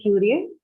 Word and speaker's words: curious: Can you try to say curious? Curious. Curious, yes. It has a Q sound.